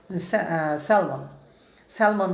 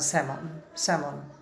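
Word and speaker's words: salmon: I wonder, আমি বিস্ময় প্রকাশ করি, if they have any স্যালমন বা স্যামন বা স্যালমন, হ্যাঁ, এলের উচ্চারণ করলে চলবে না, এটা একটা মাছ, ইলিশ মাছের মতো মাছ।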